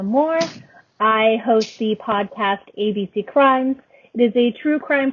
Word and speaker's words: ABCrimes: So AB Crime is your podcast. It's ABC Crimes. Yeah. It's spelled AB Crimes, but I pronounce it ABC Crimes.